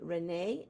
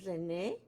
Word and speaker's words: René: Some may say René and others René.